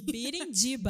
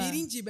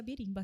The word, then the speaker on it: Birindiba: Birindiba. Birindiba, é como se fala mesmo. Eu achei que era birimba, tá?